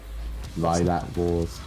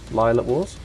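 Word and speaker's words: Lylat Wars: like yeah or rainer time ocarina of time lilac wars is a great one lila wars sorry correcting your pronunciation on this yeah wipeout 64.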